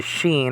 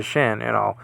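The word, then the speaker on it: שין: It has Aleph and then the Yod and then the Sheen or the Shin, Mr. Spock used to call this the Shin. I think he said he's Shin though.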